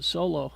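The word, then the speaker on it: Xolo: and uh and the uh the lead uh solo I think that's how you say his name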